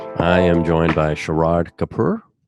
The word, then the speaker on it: Sharad Kapur: I am joined by Sharad Kapur, right? That's how you say it? Yeah, I say Sharad Kapur, but you're pretty close.